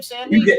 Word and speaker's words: Sandy: Is that how you pronounce your last name, Sandy? You got it right.